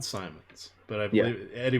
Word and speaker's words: Simons: And sorry, it's pronounced Simons.